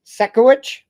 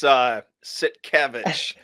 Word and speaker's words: Sitkiewicz: Tonight we've got on Alvin Sitkiewicz. I just butchered that.